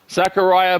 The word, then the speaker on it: Zachariah: show well thank you my last name is pronounced like this think Zechariah sitchin the author okay the author uh Zachariah but spelled Zechariah same pronunciation though LOL is Italian I